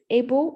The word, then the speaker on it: able: So able and table, it's the A is not prolonged as you pronounce those.